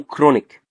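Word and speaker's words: chronic: فانا مثلا لو عندي السي اتش بتتنطق ازاي؟ بتتنطق زي حرف الكي، فهقول كايم او كولي سيستكتومي او كرونيك.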